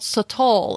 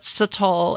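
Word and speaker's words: sotol: them's bakora but then there's another one called satl and this one I got introduced to a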